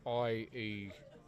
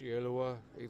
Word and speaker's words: Ielua: That is a lowercase, well actually they're all uppercase, but that's I-E-L-U-A. So many people get that wrong. It's Ielua. It's the best way I can pronounce it as a non-Samoan person.